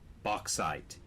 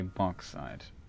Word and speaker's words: bauxite: __ ] bulk side Oak Side that's the pronunciation bauxite the United States would say box side box side okay oh just close the Cambridge